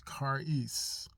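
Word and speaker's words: charis: the Greek when we do our studies is kis that's the pronunciation of it is spell c h a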